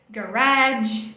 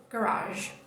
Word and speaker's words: garage: Então dá vontade de falar garage, dá vontade de falar um monte de coisa, menos a pronúncia dela, que é garage.